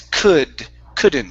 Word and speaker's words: couldn't: the name okay now remember that L is silent so instead of C it's could couldn't she couldn't read the